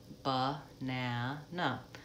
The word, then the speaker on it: banana: of the word banana we have three letter a is in that word but we only say that AA vowel out in the middle syllable that's the stress syllable so I on the other two syllables I say the sound the schwa ba na na banana and so this happens